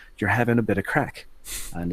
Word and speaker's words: craic: just hanging out you're having a bit of craic and it's spelled C ra I see huh she was